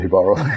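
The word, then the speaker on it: Jíbaro: I think it's pronounced Jibaro. Jibaro, yes, because he's Spanish, right?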